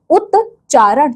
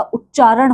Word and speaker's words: उच्चारण: जैसे कि उतारण तो उच्चारण नहीं होता। उच्चारण होता है आपका।